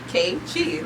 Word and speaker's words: N'kechi: has trouble saying my name literally Oh Keiichi like the phonetics right right okay um so